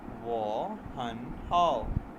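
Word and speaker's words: 我很好: इसको प्रोनाउंस करेंगे वो हन हाउ, आई एम फाइन, मैं ठीक हूँ।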